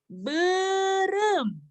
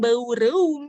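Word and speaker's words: beureum: Bacanya bukan EU, bukan ya, bukan EU, tapi ya, katanya apa saja ya yang digunakan pada berem. Ikuti ya di rumah coba. Berem. Iya, Gwen bisa bacanya berem. Bukan baureum ya, bukan baureum.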